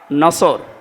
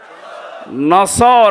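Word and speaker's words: نصر: মানে ইগল পাখি এজন্য যারা এই সূরাটা পড়তে গিয়ে সওয়াদ না বলে সিন দিয়ে উচ্চারণ করেন আপনার কিন্তু নামাজ হবে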